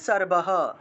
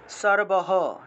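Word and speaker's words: সর্বঃ: আর শেষে বিসর্গ আছে, তাহলে উচ্চারণ হবে সর্বহ, সর্বহ, ঠিক আছে, সর্বহ উচ্চারণ হবে।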